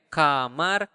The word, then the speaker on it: kamar: the room isar okay Kamar the food is the price is remember in Bahasa you really pronounce the R so you need to roll your tongue and make that sound